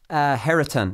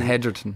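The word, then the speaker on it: Hetherton: John Herriton, have I pronounced that right? I haven't. John Hedgerton, Hedgerton. Hedgerton, is it? Right, John Hedgerton.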